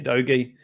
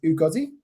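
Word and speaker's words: Udogie: now be moving for Destiny adogi um after his big haul his pronunciation is ugazi sorry doggy is that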